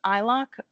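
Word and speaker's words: iloc: So the statement we're doing in here is called eyelock. I I've learned it by reading. So if there's another way to pronounce it, I'm not entirely sure. But I think of it like I locate.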